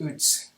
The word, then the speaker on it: Uz: He's a man that lived in the land of, in the Hebrew it's pronounced Uz. We say Uz probably in English, but he, the scholars